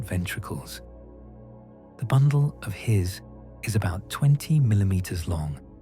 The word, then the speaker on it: His: The impulse enters a structure called the bundle of His, pronounced like the word hiss.